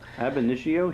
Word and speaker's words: ab initio: Ab initio.